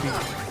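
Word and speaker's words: Bheem: Uh, is that spelled B H E E M? Uh, yes. All right. That's uh that's just pronouncing Beam.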